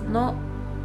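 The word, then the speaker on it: の: It's pronounced as no, no, and it shows that something belongs to someone.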